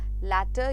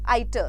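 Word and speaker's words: iatro: Next है हमारा लैटर या लैट्रो, ऑलराइट, आइटर, सॉरी ये आइटर है, आई मिसप्रोनाउंस्ड, इट्स आइटर या आइट्रो।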